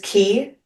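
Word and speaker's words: quay: Um is key but spelled qu u a y. Like when you're talking about Q a Y. Q U A Y. Like when you're talking about a pier, that word is key.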